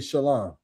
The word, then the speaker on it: shalom: bid peace unto him the appropriate way is to say shalom. That's the appropriate uh Hebrew. That's the appropriate um you know pronunciation of the word peace is shalom. Not shalom, not shalawam, not anything outside of shalom.